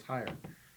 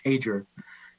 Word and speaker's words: Hager: It's Hager. It's phonetic, just as it's spelled.